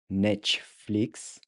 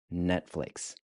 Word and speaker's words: Netflix: If Netflix is pronounced Netflix in Portuguese, how do you say watch Netflix? Again, it's Netflix.